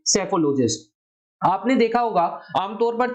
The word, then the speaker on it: सेफोलॉजिस्ट: यहां पर P silent है इसलिए शब्द कहा जाएगा सेफोलॉजिस्ट।